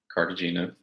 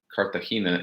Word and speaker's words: Cartagena: He says, my name is pronounced Cartagena in English and Cartagena in Spanish.